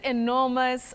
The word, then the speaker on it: enormous: Oh, that first E, that letter E at the beginning of that word takes the sound E. So you say enough, enough.